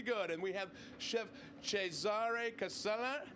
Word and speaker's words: Cesare Casella: And we have Chef Cesare Casella. How'd I do there? Bravo.